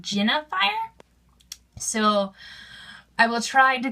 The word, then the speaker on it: Jinafire: Actually, people have been telling me I've been saying Jinafire wrong. It's actually, they say I should pronounce it Jinafire.